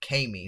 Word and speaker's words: Kami: with the addition of Kami, not Cammy. I thought it was Cammy, because it's like Cammy with a silent E or something like that. So yeah, but Kami is okay as well.